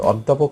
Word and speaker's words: অধ্যাপক: অধ্যাপক শব্দে এই প এর সাথে একটি ও আছে, এর আগে যেহেতু আ আছে, এই জন্য এই প এর সাথে থাকা অটা ও এর মতো উচ্চারণ হয়েছে।